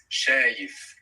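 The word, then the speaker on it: شايف: So it's good to mention that sh is one sound, even though we write it like 2 letters in English.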